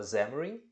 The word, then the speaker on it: Xamarin: É que eu aqui tenho outros tics, outras marcações, porque eu também programo dispositivos móveis usando essa tecnologia que se escreve Xamarin, mas se fala Xamarin.